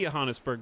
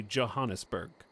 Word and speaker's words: Johannesburg: Johannesburg. Wait, Johannesburg. We had this discussion before. We've had this discussion before. In Microsoft Flight Sim. Because we all say Johannesburg, but it's actually Johannesburg this time.